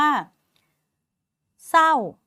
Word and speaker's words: เศร้า: ครู มี คำ ว่า เศร้า คุณ ครู เนี่ย ไม่ อ่าน ส เอา เสา ไม้ โท เสลา อ่าน ไม่ ออก เสียง รอ เรือ เลย ค่ะ มี รอ